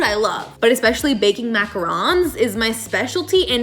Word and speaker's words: macarons: love but especially baking macarons is my specialty and if you say macaroons no you're wrong macaroons are the coconut cookie i'm talking about macarons the french sandwich cookie so if you say